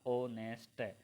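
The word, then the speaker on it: honest: ऑनेस्ट बताया तो मैंने दोस्तों, इसका प्रोनाउंसिएशन होगा आपका ऑनेस्ट।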